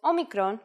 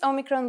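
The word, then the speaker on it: όμικρον: letter for this lesson this is a vowel called Omicron which makes the sound o again this will look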